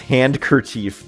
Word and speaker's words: handkerchief: It's handkerchief, but it's handkerchief pronunciation. The D is silent.